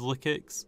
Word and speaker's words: Lyxic: monster very very well but here is the liix again I i' I've only recently told that it's been actually is liix because I actually had to ask the Discord